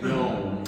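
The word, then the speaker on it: יום: Day is Old Testament word 31:17, and it is Yom. That's the way you pronounce that.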